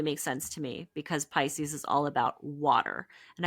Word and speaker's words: Pisces: lymphatic system totally makes sense to me because Pisces is all about water and I always think